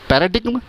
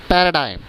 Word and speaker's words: paradigm: पैराडिग्म, नो. The correct pronunciation is पैराडाइम, पैराडाइम, पैराडाइम.